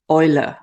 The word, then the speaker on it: Eule: Some people have told me, why don't you pronounce it Eule Planner? That would be more correct. And yes, you would be right. But I actually prefer the English pronunciation, Eule Planner.